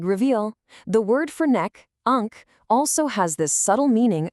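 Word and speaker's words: عنق: The Arabic word for neck, which is pronounced "oonq".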